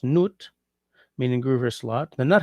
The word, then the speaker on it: Nut: The the word may have come from the French from the German nut pronounced noot, meaning groover slot.